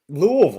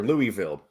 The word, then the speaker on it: Louisville: proper here Louisville but any city in Kentucky that has Ville in the name the people around here put Vol instead of Vil whether it be Pikeville they say Pikeville or Danville you know why that's a that's a that's a that's a very that's a Southern Country thing it is that's you know instead of taking the time to enunciate every aspect of the syllable yeah they shortened it we've also got Versailles